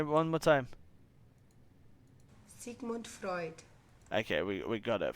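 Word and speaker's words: Sigmund Freud: how how do you pronounce it Sigman Frey pronunciation is a thing hold on here we here we go from the German Channel Sig Freud Freud say it again Sig Freud say one one more time sigon Freud okay we we got it Freud Sig fruit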